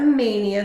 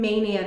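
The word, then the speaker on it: Maynia: And this was a Mania start. Oh, someone had asked what a Mania start is. So when I say something's a Mania start, it just means that I started it in Mania this year.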